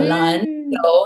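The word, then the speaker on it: 篮球: So for me, two second tones back to back is really hard. 嗯 But because I learned how to say this word 篮球, 篮球, it's like I have the rhythm of two second tones back to back in my head.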